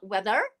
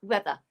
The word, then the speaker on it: weather: with me is not weather we're using british english everybody so we don't say the r sound at the end it's only uh uh so it's weather say again weather weather very